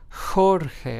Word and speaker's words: Jorge: We have the word Jorge, which means George in Spanish, is pronounced as Jorge, as if it started with an H in English, right?